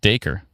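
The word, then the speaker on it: Dacre: Oh, it's pronounced acre with a D in front. Daker.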